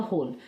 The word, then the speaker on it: whole: देखिए WHOLE होता है होल, कई बार मैं इसको पता नहीं वोल क्यों पढ़ जाती हूँ। तो ये जो है W और H एक साथ जब आते हैं तो ये जो W है वो साइलेंट रहता है और ये पढ़ा जाएगा होल, तो ये इसका होल स्क्वायर है, ठीक है।